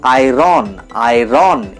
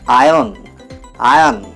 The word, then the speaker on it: iron: এটাকে আমরা উচ্চারণ করে থাকি আয়রন এভাবে। এখানে আরটাকে সাইলেন্ট রেখে আমাদের উচ্চারণ করতে হবে আয়ন।